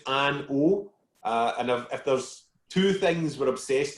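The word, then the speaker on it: An Oa: do on zoom actually you don't pronounce this final a so it's just an uh and if there's two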